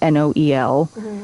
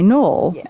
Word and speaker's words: Noel: cuz it's like the the UK pronunciation of Noel. And like some people named N O E L go by Noel in the UK, but some of them go by Null, same as Joel.